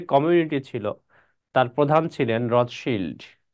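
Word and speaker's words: Rothschild: ছিল তার প্রধান ছিলেন রথ শিল্ড কে ছিলেন ওয়াল্টার রথিল্ড রথ চাইল্ড সি এইচ আইএলডি চাইল্ড অনেকে উচ্চারণ করে বাট রথ শিল্ড উচ্চারণ করাটাই অধিক শুদ্ধ এই রথ শিল্ডের কাছে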